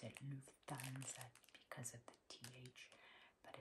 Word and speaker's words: Lufthansa: Eye mask, and here you see the Lufthansa bird. Sometimes you'll hear somebody pronounce it Lufthansa because of the TH, but it's Lufthansa, Lufthansa.